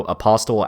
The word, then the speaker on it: apostle: the comments that go apostle actually has a silent t i know i knew